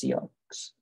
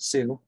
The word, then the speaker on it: Sioux: obelisk in sioux city i don't think it's pronounced seahawks but sue has a corner that